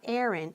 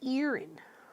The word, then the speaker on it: Erin: Careful how you say it. It's not Erin, it's Erin.